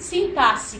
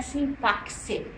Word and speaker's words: sintaxe: no concurso apenas as figuras de sintasse que eu falei que não é sintaxe tem muito professor de português que fala sintaxe é sintaxe tá assim como eu